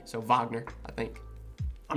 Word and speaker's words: Wagner: name is pronounced or it's spelled wagner with a w but it's pronounced with a v so wagner i think i'm not